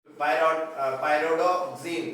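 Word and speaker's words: Pyridoxine: Vitamin B6 पायरोडोक्सिन, ठीक है, ये प्रोनाउंस कर लेना, पायरिडॉक्सिन बोल सकते हो, पायरिडॉक्सिन।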